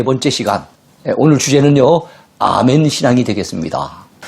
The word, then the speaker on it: 아멘: 자, 영어에서는요, 똑같은 아멘인데 발음만 에이멘 이렇게 발음을 하죠.